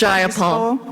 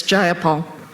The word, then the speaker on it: Jayapal: Jayapal that there was no takeover? It was just Jayapal. If you're going to say my name, please say it right. It's Jayapal.